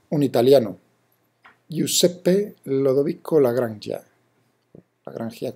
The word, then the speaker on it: Lagrangia: Aunque sí, es verdad que emigró a Francia y Alemania, trabajó, pero es un italiano, Giuseppe Lodovico Lagrangia, Lagrangia como lo pronuncian los italianos.